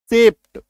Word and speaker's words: shaped: ठीक है, जैसे कि SHAPED, इसका उच्चारण जानते हैं क्या होता है, सेप्ट। तालव्य अधप ट, सेप्ट।